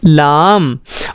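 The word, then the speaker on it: لام: इसका प्रोनाउंसिएशन हम इस तरह करेंगे, बोलिए मेरे साथ आप, लाम।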